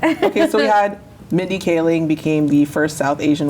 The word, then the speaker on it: Kaling: Okay, so we had Mindy Kaling became the first South Asian woman to get a star on the Walk of Fame, Hollywood She's Walk of Fame. hilarious. She's Love Mindy amazing. Kaling.